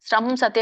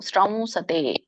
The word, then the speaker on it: ಶ್ರಂಸತೆ: ಮಾಡ್ತಾ ಇದ್ದೀರಾ ಅಲ್ಲ ಶ್ರಮ ಸತೆ ಅಂತ ಹೇಳ್ತಾ ಇದ್ದೀರಾ ನೀವು ಶ್ರಮ ಅಂದ್ರೆ ತಪ್ಪು ಶ್ರಮ ಹೇಳಬೇಕು ಶ್ರಂ ಸತೆ ಶ್ರಂ ಸತೆ